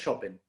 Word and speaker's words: Chopin: Chopin, claro, claro, porque como tú sabes, las palabras en polaco son todas graves. Todas las Ah, palabras son graves. Entonces, todo lo que uno dice tiene la acentuación en la penúltima sílaba. Entonces, en este caso es Chopin.